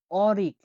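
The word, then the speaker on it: o'rik: পরবর্তী অক্ষরটি হলো ও, ও এর উপরে দুটা ফোঁটা এরকম চোখের মতো, তাহলে এটার উচ্চারণ হয়ে থাকে ওই হিসাবে, বাট এটা উদাহরণ আমরা দেখবো এখন। দেখুন অরিক, অরিক, অরিক মানে হলো এপ্রিকট, একটা ফল আছে উজবেকিস্তানে যেটাকে এপ্রিকট বলা হয়।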